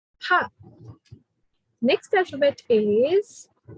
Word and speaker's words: H: So in German, it's ha. Ha.